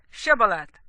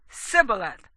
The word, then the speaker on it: Shibboleth: If he said no, then they would say to him, please say Shibboleth. And he would say Sibboleth, for he was unable to pronounce it right.